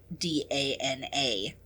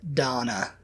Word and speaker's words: Dana: least people I know pronounce that name like Dana. Dana. Uhhuh. And you would pronounce it Donna.